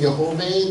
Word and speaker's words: Jehovah: Once again, if you hear me saying Jehovah, that's the way that I pronounce the proper name of God, as symbolized here through the YHWH, or in Hebrew, Yud He Vav He.